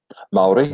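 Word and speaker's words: Māori: you're you are native my ori tribe right maori never the things i do I did say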